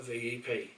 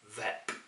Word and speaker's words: VEP: It's not a VEP, it's a VEP.